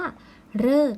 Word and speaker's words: ฤกษ์: คำ เท่า นั้น คือ คำ ว่า ฤกษ์ นะ คะ มี วัน ออก เสียง ริ เนี่ย จำ ง่าย ว่า จะ ต้อง ประสม กับ ตัว ก ไก่ ทอ ทหาร ป.